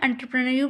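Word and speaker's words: entrepreneur: इसका जो प्रोनंसिएशन है वो रॉन्ग है। एंटरप्रेन्योर बोला जाता है इसको।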